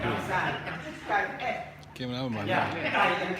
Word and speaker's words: ไก่: ภาษาไทยไก่ภาษาไทยไก่ เกมแล้วเรื่อย ไก่ ๆ ภาษาไก่เอ๊ะ เกมแล้วเหมือน Yeah, gai and kai. อ๋อไก่ไข่ Yes. ไก่เอ๊ะ Gai is chicken, but egg ไก่ is ชิค kai.